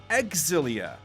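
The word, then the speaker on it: Xillia: darkness i think that last one hit it's pronounced exilia right cross elia exilia do you say zillion isis i say zelia tales so many corrections there said it's pronounced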